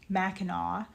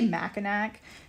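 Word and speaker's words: Mackinac: it's like um okay for one thing it's pronounced Macau um people will say macac and that is not correct um um uh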